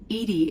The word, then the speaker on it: EDI: Why are you named Edy? Edy is the phonetic pronunciation of Ed Di.